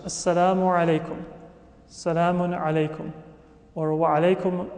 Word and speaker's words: Assalamu alaykum: Many times you say it quickly, Assalamu alaikum, or even shorter than that. It becomes a contraction. But in Arabic, all of the letters should be pronounced. Assalamu alaykum.